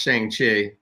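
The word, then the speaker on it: Shang-Chi: voice and jack says it's pronounced shang chi that's not phonetically spelled but i uh yeah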